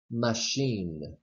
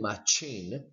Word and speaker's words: machine: pronounced example the word machine machine we don't state my chain that's incorrect because machine is a word that comes from French and then that case